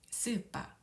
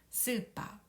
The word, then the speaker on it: スーパー: 스파, 스파. 이 가운데 하이픈이 보이는데요. 가타카나에서 장음은 이렇게 하이픈으로 표시합니다. 그래서 스를 두 박자, 빠를 두 박자로 길게 발음하면 되겠습니다. 스파, 스파, 스파, 슈퍼마켓이 되겠습니다.